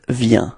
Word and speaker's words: vient: Il vient de prendre. Okay. Elle vient de parler. Repeat. Elle vient de parler. Okay. Same thing here. So you've got a final T, but then you don't pronounce it.